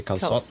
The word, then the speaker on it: calçot: Apparently that way just to signify that you pronounce the C soft instead of hard. So instead of saying calçot, you'd say calçot Calçot. or something like that.